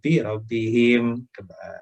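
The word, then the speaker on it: رَبِّهِمْ: Makanya dia kalau Robbihim, jadi nyiringnya aja gitu.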